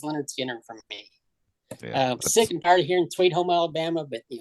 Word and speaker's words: Lynyrd Skynyrd: really helps a lot so Lynyrd Skynyrd I mean how many bands have you know the pronunciation right there so there you go number 10 is Leonard Skinner from me Alabama but